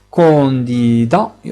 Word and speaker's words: candidate: Candidat, et on ajoute le E muet. Donc, lorsqu'on ajoute le E muet, la dernière lettre se prononce. Lorsqu'on dit un candidat, mais une candidate.